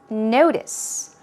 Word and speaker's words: notice: okay here we go stress goes on the first syllable as you see let's do it two times notice notice to notice means to